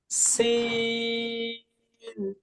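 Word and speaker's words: سين: উচ্চারণটা হবে এরকম, মাছ ভাজি করা দেখেছেন না? কিংবা আমি যে বলছি সাইকেলের হাওয়া ছেড়ে দিলে যেমন শব্দ হয়, এটা শব্দ হয় না এরকম? এরকম একটা শব্দ হবে। সিন, sin, সিন, সিন দন্ত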